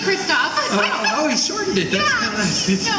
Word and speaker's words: Kristoff: And Chris Christopherson? It's Christoph.